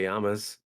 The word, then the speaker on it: llamas: como te llamas? Como te llamas, not llamos. Amos. Double L's. Mm-mm. You don't say the L's. Como te llamas.